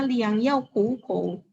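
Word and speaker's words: 良药苦口: Ini bacanya liang yao ku ko.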